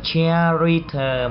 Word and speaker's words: character: Chúng ta không đọc là character mà chúng ta phải đọc là character.